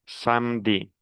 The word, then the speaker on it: samedi: dit vendredi vendredi samedi le e je ne les prononce pas on prononce samedi et finalement on dit dimanche et ce sont Les 16 jours de la semaine.